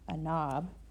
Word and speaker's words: knob: The K is silent. So it makes the no sound.